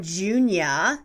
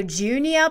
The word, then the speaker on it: Junia: i love the name junia j-u-n-i-a but i was unable to find out much about it meaning origin i know it's a bible name though it sounds like julia but with an n can you help me